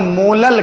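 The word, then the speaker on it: molal: वहां पर मोलर कहते थे, यहां पर मोलल कहते हैं। मोलल, वहां मोलर था, यहां मोलल है, मोलल। ठीक है, तो अगर स्मॉल m को आपको प्रोनाउंसिएट करना है तो आप मोलल बोलोगे।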